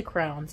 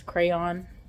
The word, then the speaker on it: crayon: some kids crowns and I always say crowns and I know that's not how you say it by the way but that's how I've said it my whole life Justin makes fun of me cuz he says crayon which is the correct way I'm sure but anyway